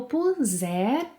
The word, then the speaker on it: puser: Eu puser, som de Z.